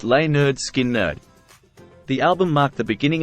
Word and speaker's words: Lynyrd Skynyrd: produce their debut album pronounced lay nerd skin nerd the album marked the